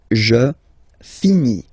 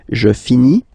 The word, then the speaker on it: finis: Je finis. Remember, final S is not pronounced.